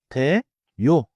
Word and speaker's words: 돼요: 걱정돼요해서 대어요처럼 나누지 마세요. in natural speech새 대요. smoothly as two syllables 대요.